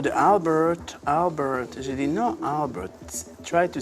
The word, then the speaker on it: Alber: J'ai dit non, Albert. Try to say Albert. And they said spell it. I said it's the same, but just don't pronounce the T.